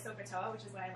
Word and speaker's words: SOHCAHTOA: Okay, so I'm kind of like SoKoToa, which is why I like her so much.